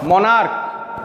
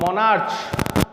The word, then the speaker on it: monarch: are ending in ch, but if I pronounce it, what I pronounce it as stomach and not stomach, it's stomach, or monarch, not monarch, then it sounds like K, monarch, stomach, I add S, STOMACHS, or MONARCHS.